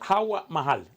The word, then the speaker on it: Hawa Mahal: Se pronuncia Hawa Mahal.